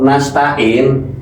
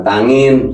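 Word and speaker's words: نستعين: na'budu wa iyaka nastain tapi aslinya iyaka na'budu wa iyyaka nasta'in bahasa ta'in ya bukan tangin bukan ya tain ini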